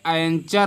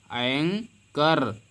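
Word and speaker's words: anchor: तो यहाँ पे एंचर नहीं पढ़ेंगे। क्या? एंचोर नहीं पढ़ेंगे, बल्कि यहाँ पे एच को हम नहीं पढ़ने वाले हैं। एंकर, यहाँ पे एच साइलेंट रहेगा। एन पढ़ेंगे, इसके बाद कर पढ़ेंगे।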